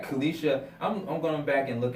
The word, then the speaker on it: Colquitt: Let me make sure I pronounced it right. Colquitt.